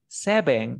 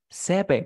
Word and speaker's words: seven: en el idioma inglés, tienes que poner tu diente sobre el labio. V. V. ¿Te acuerdas viste el video de del alfabeto? V. Yes. Yes. Listo. Entonces sería, no es seven. Mira, seven.